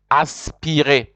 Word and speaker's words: aspiré: It is aspiré. Aspiré is spelled ASPIRE. with an accent on top, because you know always in French, whenever there's no accent on the E, that the E is never pronounced, but when there's an accent you pronounce it.